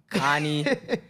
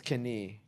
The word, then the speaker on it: Kanii: you see my name everyone pronounces it Connie canai skinny it's Kenny get it right please because it's funny because